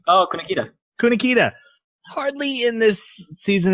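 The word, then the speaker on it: Kunikida: I said his name wrong all last episode, so I'll let Jeremy say his name. Oh, Kunikita.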